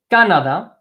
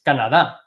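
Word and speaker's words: Canadá: we would be accent the emphasize part of the word is the last syllable I'll highlight that in green so you guys can see that so the last syllable highlighted in green Canada right it's not Canada its Kannada okay chief Canada we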